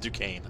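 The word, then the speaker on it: Duquesne: nqes you know it's like duquan snet it's pronounced Duane or uh that's right uh the other thing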